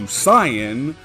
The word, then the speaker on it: Saiyan: When translating Saiyajin to Saiyan, the pronunciation is meant to remain the same.